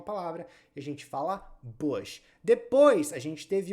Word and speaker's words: Bush: W Bush não é Bush tem muita gente eu já vi até apresentador de jornal Ancora de jornal falar Bush mas não é Bush é Bush Bush com som de u Bush é até uma